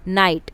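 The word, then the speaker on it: knight: नाइट के silent है।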